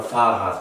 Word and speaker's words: Fahrrad: El segundo caso en el que se utiliza vocal larga es en el caso de las vocales seguidas por una H, como en la palabra Fahrrad, que significa bicicleta.